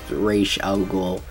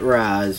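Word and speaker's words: Ra's al Ghul: is Ray shaoul and yes guys it is pronounced R alul not Raz or Raz or however you want to pronounce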